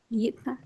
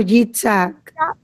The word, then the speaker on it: Yitzhak: It's Jack Yitzhak. or Yitzhak. Some people pronounce it different. When we went to Israel, I was told that the Ashkenazi pronounce it different than the Sephardi.